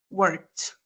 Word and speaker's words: worked: Pero al momento de pronunciar, se pronuncia, perdón, worked. ¿Se dan cuenta? Esta es la forma de pronunciar. No se pronuncia worked, for example, sino worked. Entonces, cuando tenemos un verbo que termina en K, F, S, CH, SH, X y TH, se va a pronunciar como T.